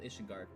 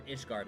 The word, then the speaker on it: Ishgard: If it's this region's map, it's called Ishingard or Ishgard. I mean, not Ishingard.